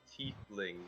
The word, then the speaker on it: tiefling: It's pronounced tiefling, not toothpick.